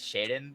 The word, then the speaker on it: Schaden: I've been saying Scat, it's Shaden.